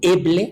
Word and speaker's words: Eble: Y me dijo, Alejandro, soy el doctor médico Joseph Ebel, y Eble, se escribe su apellido, E-B-L-E.